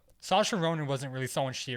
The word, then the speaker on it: Saoirse: Sayors. Sayoris. Saoirse That's how I used to pronounce Listen, we it.